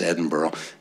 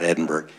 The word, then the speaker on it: Edinburgh: And he's going to explain to you from all over the world why that's pronounced Edinburgh, not Edinburgh.